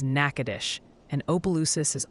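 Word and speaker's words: Natchitoches: Nakatosh's is Nakadish, and Opelousas is Opelousas.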